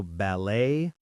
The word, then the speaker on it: ballet: Also, ballet, bouquet, buffet. All French words where the t is silent.